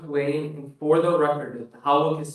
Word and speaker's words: Hawick: And for the record, Howick is spelled Hawick.